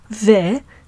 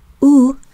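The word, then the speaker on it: ו: that means and and it can be pronounced in four ways ve is the general pronunciation of the conjunctive valve unless the criteria below are present oo is the pronunciation when it is attached to a labial consonant such as so these are consonants that are pronounced by pressing the lips together and we'll see more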